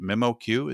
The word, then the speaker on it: MemoQ: Mark Shriner is the strategic sales director for By the way, is it MemoQ? Is that how you pronounce?